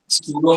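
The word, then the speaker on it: pseudo: सूडो में का piece silent, real force जिसको ट्रू फोर्स बोलते हैं, और सूडो फोर्स जिसको फॉल्स फोर्स बोलते हैं, इनमें फर्क क्या होता है?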